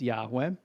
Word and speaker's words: Yahweh: That means that the word that you have in in the Hebrew original is the tetra grammaton that we pronounce Yahweh.